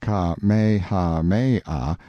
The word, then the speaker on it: Kamehameha: the drifting clouds when Kamehameha pronounced kha Maya the great who was